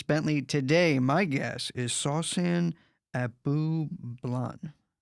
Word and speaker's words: Sawsan Abublan: Today, my guest is Sawsan Abu Blan. Did I say it right? Absolutely.